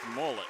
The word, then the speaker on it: Millette: do a great job Ray Millette is pronounced mullet okay you know